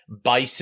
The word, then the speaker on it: BICE: best interest contract exemption are we pronouncing it Bick is that how we're pronouncing this yeah it kind of goes back and forth Bick is the best interest contract Bice is the best interest contract exemption so you sign a